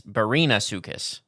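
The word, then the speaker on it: Barinasuchus: was our oh oh wait it's not Brian it's Barina sucus Barina is that how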